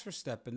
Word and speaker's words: Verstappen: So, well, Max Verstappen, that is for Verstappen Red Bull. Is his name, not Steppen. I just said Verstappen. No, you said Verstappen. We talked about this last show. His name is Verstappen.